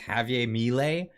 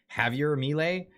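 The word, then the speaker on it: Javier Milei: yeah they voted in I think it's pronounced Javier melee Javier melee uh he's a very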